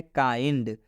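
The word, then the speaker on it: kind: आई आया हुआ है रूल में क्या बोल रहा है आई के बाद से एनडी आना चाहिए और आई के बाद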